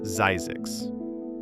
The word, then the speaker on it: Zzyzx: It's pronounced Zzyzx.